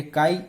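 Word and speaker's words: χ: ये काई E या जाई E आप कोई भी प्रोनाउंसिएशन इसके लिए यूज कर सकते हो।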